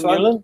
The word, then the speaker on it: Vermeulen: This is Marco Vermeulen. Am I pronouncing it right? Yeah, that's Vermeulen, you know, who lives in London these days, right?